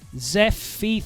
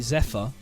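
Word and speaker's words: Zephyr: not rage finals hello let me try pronounce that Zef feet feels their feet t see sorry that's an ambiguous pronunciation phonetically you're probably right I know what I know that it should be Zephir which is z e p hy r right okay I don't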